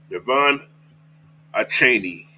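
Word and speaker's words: Devon Achane: All right, Yvonne Cheney. That's how you pronounce his name.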